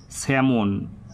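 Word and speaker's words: salmon: half of ওয়েব অফ স্যামন এস এ এল এম ও এন আমাদের বাংলায় বলার সময় আমরা সালমন বলবো আর ইংরেজিতে বলবো স্যামন উচ্চারণটা যখন করবো স্যামন এল টা সাইলেন্ট থাকবে এস এম ও এন শ্যামন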